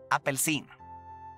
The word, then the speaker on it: apelsin: uh orange is apel it's kind it sounds a little bit similar similar to apple i guess but yeah